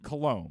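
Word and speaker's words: Coulombe: and got the strikes cologne that's how you pronounce the thing Danny colombe who showed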